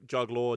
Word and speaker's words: Juggl_r: because we couldn't agree, we just like, right, an underscore, it's whatever vowel you want. So juggler, juggler, juggler, juggler, yeah, all of those are valid pronunciations.